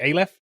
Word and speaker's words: Aleph: I think that's how we've decided we were going to pronounce it, Aleph.